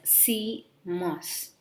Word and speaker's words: CMOS: o s together called as c mos we pronounce it as c mass and in cmos look into the term it